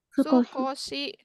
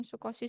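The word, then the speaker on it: すこし: Sukoshi, bukan sukosi.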